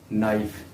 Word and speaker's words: knife: Next word जो है वो है नाइफ, KNIFE नाइफ। इसमें के साइलेंट है, इसको हम पढ़ेंगे नाइफ।